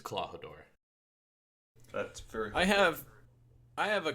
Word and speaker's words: Klahadore: No, well, I understand Kuro, but the other one that was like Clawhara or something? It's Klahadore.